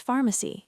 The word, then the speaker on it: pharmacy: Where is the nearest pharmacy? Deep dive. Nearest means the closest one. Pharmacy. The ph is an f sound.